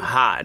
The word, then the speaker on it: Hod: Loki took the mistletoe and pulled it up and went to the thing, Hodor, standing outside, which was another pronunciation of Hod, Hodor.